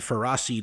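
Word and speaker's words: Ferroseed: celosis and ferracid and ferracid is the actual correct pronunciation get at me pharaoh seed ferracid once you've uh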